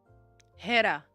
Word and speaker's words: Hera: So Hera is pronounced with the H.